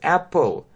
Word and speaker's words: apple: И на конце эта буква И не читается. Apple.